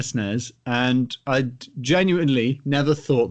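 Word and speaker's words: SNES: Super Nintendo entertainment system which is the only way to pronounce those names when I was a kid I had a Nez and a snares and I'd genuinely never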